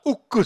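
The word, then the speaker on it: ಉಕ್ಕು: steel was in Kannada, ukku steel, and ukku could not be pronounced by Europeans, so they said wuk and wuts, and finally became wood steel, which looks vaguely Germanic.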